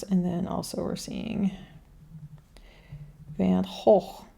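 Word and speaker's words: Van Gogh: And then here we have the Rembrandt House, and then also we're seeing Van Hoog is how you say it here.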